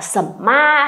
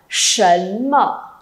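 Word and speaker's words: 什么: S ư đừng có ai đọc là sẩm ma hay là sẩm mơ nhá, không có sẩm sẩm gì đâu. Sấn mở.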